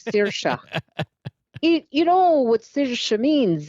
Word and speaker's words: Saoirse: Yeah, like the actress. You didn't say it right, but let me hear you do it again. Saoirse. It's so funny that people can't say it. Saoirse. Saoirse. Okay. It's an Irish thing.